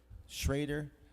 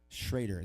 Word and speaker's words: Schroeder: Schroeder. Schroeder. Well, how do you say it? Schrader. There's no A in there. Schrader.